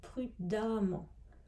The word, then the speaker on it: prudemment: n t l'adverbe sera prudemment donc attention à la prononciation on dit prud'hommes le E se prononce comme un A et pour les adjectifs